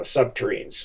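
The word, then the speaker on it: subterrenes: chemical types such as the dissolver that dissolves rock, the nuclear power system such as the subterms, uh uh subterranes, which were rhymes with submarines, so you can remember it.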